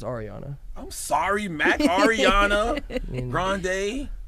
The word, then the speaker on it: Ariana: Well, for it's pronounced Ariana.